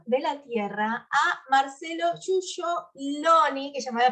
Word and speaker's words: Giuggioloni: Es de origen italiano, la pronunciación es Giugioloni, pero tampoco Perfecto. hablo italiano, así que no lo podría confirmar.